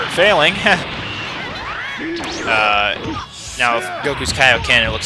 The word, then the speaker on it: Kaioken: Kaioken is how it's supposed to be pronounced. Because, in the English show, I've heard that it's pronounced Kaioken, and that's what it's called.